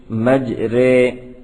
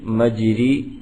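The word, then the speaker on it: مجريها: ہا، مج رے ہا۔ اس کا تلفظ میم جیم زبر مج، را یا زیر ری، مجری، ہا الف زبر ہا، مجری ہا نہیں ہے، بلکہ میم جیم زبر مج، را یا زیر رے مجرے ہا الف زبر ہا مجرے ہا ہے.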